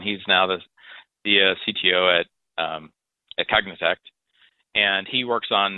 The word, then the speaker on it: Cognitect: You're working is it Cognitect? Is that how you pronounce it?